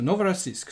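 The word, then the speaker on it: Novorossiysk: new Russia apparently and it is from the IPA something like novora Sisk let's see let's see how it sounds okay so Novara Sisk so that's what we're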